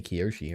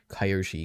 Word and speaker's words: Kyoshi: Avatar fan or something it's meant to be Kyoshi because of like the the Latin root of the word or something I have